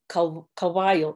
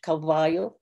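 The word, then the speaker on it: caballo: take uh for example a word like um uh kawhio in spanish you know in in kept in acoma carrots that would be pronounced as kawaii listen to the difference again between spanish cavayo akomakeris kawaii and you'll see these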